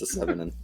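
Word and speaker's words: Se7en: Um and it's pronounced S7in.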